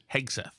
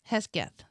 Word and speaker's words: Hegseth: Hegseth. How did Rich Lowry pronounce it? Hesketh.